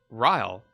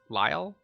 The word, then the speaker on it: Lyle: shoulder my name is Ryle Ryle wait lie Lyle Lyle so that was how it's pronounced Lyle I'm the commander